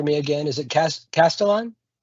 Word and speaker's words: Castillon: Is it Cas- Castillon? Yes, sir. Just like it looks. Uh I always tell people C-A-S-T-I-L-L-O-N. Just Castillon.